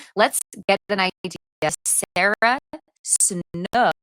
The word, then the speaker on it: Snook: Sarah Snook, I just realized I've been saying her name wrong and pull it up. Not Sarah Suk.